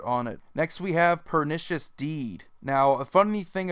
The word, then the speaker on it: Pernicious: I've noticed a lot of people call it Pernicious Deed or Perniculous or whatever. They just completely butcher the name, and yeah, it's definitely Pernicious Deed.